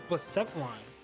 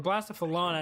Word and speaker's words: Blacephalon: But I think my answer was Blacephalon. Or Blacephalon as I like to say. That's the correct way to say it.